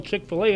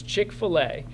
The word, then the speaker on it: Chick-fil-A: Yeah, and it's spelled so Chick-fil-A, and it is Chick-fil-A. So I know a lot of people want to say Chick-fil, Chick-fil-A, and all kinds of stuff. There's no A in here. It's just Chick-fil-A.